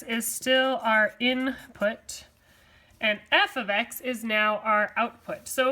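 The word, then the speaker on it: f(x): So this thing is pronounced f of x. Now f of x and y are really the same thing.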